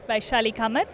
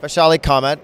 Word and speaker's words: Vaishali Kamat: How do you pronounce that? Vaishali Kamat. Vaishali Kamat.